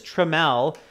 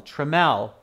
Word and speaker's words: Trammell: many of you are saying his name is trammell uh spelt with t r a double m e double l trammell okay all capitals are okay but remember all